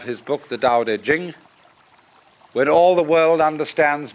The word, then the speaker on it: Ching: it's pronounced duh and jing. There is no apostrophe after the ch. So if there were it would be pronounced ching but it's jing like a J.